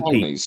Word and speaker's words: Ptolemies: Forget the P. Ptolemies. It's a silent P.